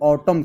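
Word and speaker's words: autumn: यह ऑटम न लिखा है। यहां पर देखते होंगे ना? तो इसमें न जो है साइलेंट रहता है। ये ऑटम केवल बोला जाता है।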